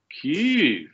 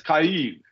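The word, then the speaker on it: Kyiv: the war in cave they keep talking about Keys yeah I've noticed that with heart Eve and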